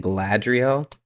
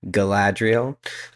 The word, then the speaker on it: Galadriel: Yeah, so I was told I was saying Galadriel I was forgetting that first A, so Galadriel. But I think that's a long time to say that. Zach, you're welcome. But Galadriel, I think is does